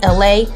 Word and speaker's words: LA: Ladies and gentlemen, it is me, LA, pronounced like LA like the city.